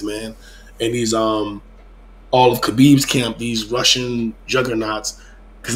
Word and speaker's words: Khabib: Because he's Coach Khabib now, or Habib. Habib. K is silent. Habib. Remember, it's silent.